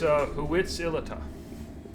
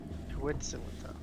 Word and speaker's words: Huitzilopochtli: It's actually based off of Aztec pronunciation. That's why it's weird.